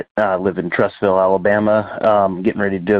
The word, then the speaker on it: Trussville: Because I have a good friend that lives there named Rick, and he pronounces it Trussville. Trussville. Like the ville is a vole.